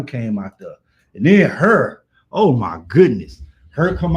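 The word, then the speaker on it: H.E.R.: uh but I did have her what was her name again her her that was her name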